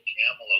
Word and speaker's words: Kamala: I'm just thrilled Kamala lost.